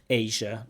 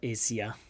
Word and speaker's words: Asia: I was surrounded by the forest, and it's in Asia, a famous country Asia, not Asia. Asia has a j sound.